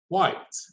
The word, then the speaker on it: white: i divide this well the e here is part of the word white okay so it's going to be silent okay so the result